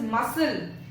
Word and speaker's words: muscle: Next is muscle. S का sound आ रहा है लेकिन C का नहीं आ रहा है. तो which letter is silent here? the letter C, muscle.